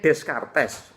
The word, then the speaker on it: Descartes: mundur sebentar tulisannya Rene Descartes tapi ini orang Perancis es belakang luluh maka membacanya manusia punya rasio kojito